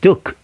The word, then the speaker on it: Duke: en la Universidad de Duke. Duke es una universidad, se escribe Duque, pero recuerde, no se pronuncia la E en inglés.